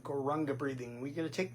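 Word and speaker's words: Gauranga: So why don't we say that together first of all just in the syllables. Gore. Raanga. Gore. Raanga. Now we can put the syllables back together and say it as the full mantra.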